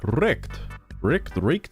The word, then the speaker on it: Reich: You clearly yearn for the fourth Recht. Recht? Hold on. Sugar, just while I'm reading this, I need you to look up a word for me. It's I think it's pronounced Rech. It's like R-E-I-C-H.